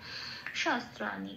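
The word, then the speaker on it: শস্ত্রাণি: শাস্ত্রাণী, শাস্ত্রাণীতে দন্তস্বটাকে বার করে নিলাম হসন্ত লাগিয়ে, তারপর স্বয়ের সাথে জুড়ে উচ্চারিত হলো স। আত্রাণীটা যেমন আছে তেমন পড়ে রইল নাইনাম ছিন্দান্তি শাস্ত্রাণী।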